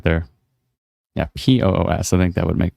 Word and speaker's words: Puss: Oh, it's more like Poos. Oh, when people write it out, P-U-S-S, it's kind of spells pus.